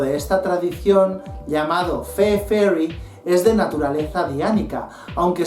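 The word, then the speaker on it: Faery: Otra tradición es la Fairy, escrito F-A-E-R-Y, que se pronuncia Fairy como la Fairy, pero se escriben diferente.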